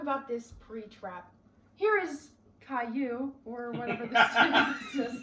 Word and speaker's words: Caillou: These songs are SpongeBob, the theme song, Caillou theme song, This Little is Calio. What? That's Caillou.